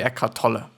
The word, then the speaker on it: Eckhart Tolle: I assume that Eckhart Tolle is pronounced Germanly. Yeah. Is a spiritual teacher. He is German-born resistant of Canada. So it's gonna be Eckhart Tolle.